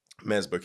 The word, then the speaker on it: Mazbou Q: last name and q is like phonetically matching to hue so like mazboku is essentially my name and that symbolizes the